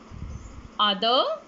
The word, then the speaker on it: other: fable other brother mother kids do not pronounce the letter r other brother mother one done